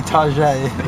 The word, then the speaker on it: Target: You know, in Sydney, they don't call it Target, they call it Tajere, because they're upper class. Really? We're in Sydney. Have you? Hey, I saw a Target today. but they pronounce it differently, Tajere. Really?